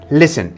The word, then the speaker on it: listen: s tea e n how does that spell listen well silent t listen l-i-s-d-e-n so what does L